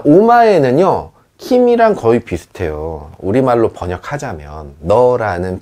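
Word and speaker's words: 君: 아나타, 키미, 오마에 이렇게 3가지 표현이 있습니다. 아나타는 존칭이에요. 당신이라고 부르는 거고요. 키미는 너라는 표현입니다. 너. 이거를 키미라고도 읽지만 이름 뒤에 붙이면 쿤이라고 읽기도 하는데 그건 우리가 김군, 박군 할 때 그 군자랑 같은 역할을 해요.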